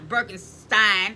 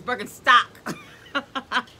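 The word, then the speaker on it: Birkenstock: a damn name wrong it's not birkenstein it's berkenstock so it's berken stock y'all uhhuh so um I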